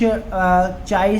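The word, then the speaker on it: chi: ई, यहाँ पर देखना इसका प्रोनाउंसिएशन कुछ चाई से कर देते हैं, कुछ काई से करते हैं, तो दोनों ही आप बोल सकते हैं।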